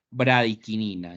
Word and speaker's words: bradicinina: sustancia llamada Brain ya o se escribe bradicinina No pero se pronuncia bradiquinina ya se pronuncia bradicinina